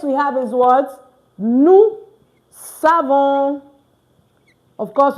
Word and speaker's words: savons: Nous savons. Of course, you don't pronounce the S again.